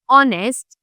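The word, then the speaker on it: honest: Because इनका जो sound है that is ऑनेस्ट एंड आर दोनों में ही ओ की आवाज़ आ रही है।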